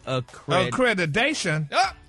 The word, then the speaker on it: accreditation: That's cred, not creed. Creed is the cologne.